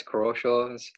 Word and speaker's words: Crawshaw: And with me is Robert Crawshaw, right? Did I pronounce it correctly? Yeah, it's Crawshaw. It's pretty close.